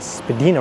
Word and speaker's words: Spadina: are at Din Road although some will tell you it's pronounced Spadina Road so we going to